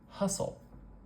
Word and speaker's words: hustle: we know we have two syllables because we have two vowel sounds we have the uh and the uh uh we call this vowel the schah it's kind of special okay we have two syllables the stress is going to be on one of these two syllables hustle hustle I hear the stress at the beginning here and we know